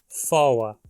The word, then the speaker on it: for: A sequência OR tônica, quando termina uma palavra, é pronunciada OA ou OA. Isso ocorre apenas numa palavra, foa, e derivados dela, como em te foa e foa coma.